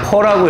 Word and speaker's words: per: 이건 퍼라고 읽어요. 퍼. 그래서 퍼의 오른쪽 값은 분모값이에요.